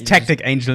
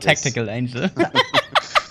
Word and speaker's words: Tactic Angel: He's Tactic Angel, not Tactical Angel.